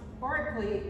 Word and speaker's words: Berkeley: And the reason it's pronounced Berkeley in Europe, unlike Berkeley in the United States, is because of the caste system.